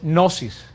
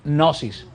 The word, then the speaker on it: gnosis: La palabra conocimiento en griego es gnosis, con G al principio, gnosis. La G nosotros la pronunciamos, pero no es gnosis con N, sino gnosis.